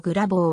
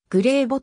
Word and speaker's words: Grabow: 左投左打苗字の蔵棒はグレー某グレー簿と読むのがより近い 1997 年の mlb